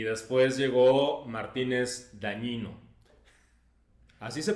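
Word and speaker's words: Dagnino: estuvo Raquel Buen Rostro y después llegó Martínez Dañino. Así se pronuncia. Sí, sí. Es que la gen en italiano se pronuncia, ¿no? Y y estas posiciones más las que nos faltan. Ni modo que digas danino, son danonino.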